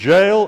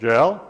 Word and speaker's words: Jael: Jael, if it's a single syllable, Jael, it's mountain goat. But if it's two syllables, as I suspect, Yah-el, you can all translate that, Yah is God.